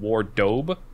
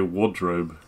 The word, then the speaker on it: wardrobe: I don't know why I still remember this, but I left the R out and pronounced it Wardobe because I thought it